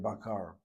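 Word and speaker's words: בקר: Israeli Hebrew still continues with the plosive dot pronunciation with the letter bet. Without the dagesh, the dot in that bet letter would be pronounced as a vet letter, as a V sound.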